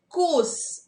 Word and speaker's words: coarse: Coarse. We pronounce it coarse. Not R should not be pronounced.